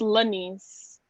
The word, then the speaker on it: Laniz: I always say her name wrong. Laniz. I think it's Laniz, right, Alexis? It's Laniz.